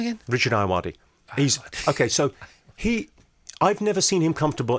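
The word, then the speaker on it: Ayoade: Lou Sanders, Sarah Pascoe, Joe Wilkinson, Harriet Kemsley, Richard Iodi. Ayawadi?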